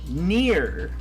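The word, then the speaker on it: Nier: because of the way i said it it's pronounced near okay i think we had this conversation earlier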